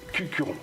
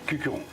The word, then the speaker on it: Cucuron: problème bon appelle Claude Cucuron Cucuron hein comme ça ça se prononce il participe au festival